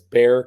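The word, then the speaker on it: Bexar: say that by the way you said it's Bear County yes but it's spelled Bear right yeah that get that gets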